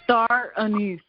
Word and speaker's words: star anise: it tastes like what how do you pronounce it Indigo star anise that's right her I don't know